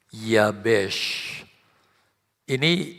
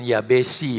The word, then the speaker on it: Yabes: anak cowok kasih nama Yabes. Ini bacanya bukan Yabesi ya saudara ya. Ya, saya sering duduk bersama pengerja baca firman Allah. Pas di bagian ini dibacanya yabesi. Saya harus perbaiki Yabes gitu loh.